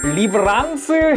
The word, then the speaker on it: 리브랑스: 자, 오늘의 리뷰는 HG 건담 브레이커 배틀로그의 건담 리브랑스 헤븐. 여기 보면은 랜스라고 써있는데 랑스라고 읽거든요. 이게 프랑스어로 하면은 랑스라고 읽힌다고 또 해요.